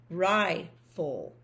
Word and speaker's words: rifle: I know the E is silent. And RI will be its own syllable. There's nothing closing in the I, the vowel there. So it's going to be long. So that is rifle, just like this one was table.